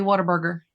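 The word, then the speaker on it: Whataburger: Is it water? Like I'm drinking water or what a burger like it's spelled what a burger but around here people say water burger.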